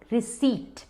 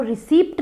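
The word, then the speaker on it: receipt: अब उसको हम कहेंगे रिसीट, रिसीट। अब वो रिसीप्ट नहीं है, स्पेलिंग में ज़रूर पी है, पर कहिए मत, करेक्ट प्रोनाउंसिएशन है रिसीट, रिसीट।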